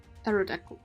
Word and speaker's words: Aerodactyl: Aerodactyl. That's how you pronounce it.